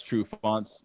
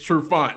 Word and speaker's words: Trufant: pronounce Trufont's last name all fancy. Because it's not a French name. Yeah, it's not French. It's Trufant.